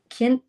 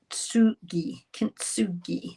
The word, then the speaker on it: Kintsugi: Anyway, um it's called um now I'm gonna I've printed off how to say this. Kinugi Ksugi. So, you don't say k I N T together and I'm I'm going to have to practice it.